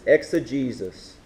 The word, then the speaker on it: exegesis: The first word is exegesis. You spell this like this. E-X-E-G-E-S-I-S. Exegesis. The next word is eisegesis. It's spelled E-I-S-E-G-E-S-I-S.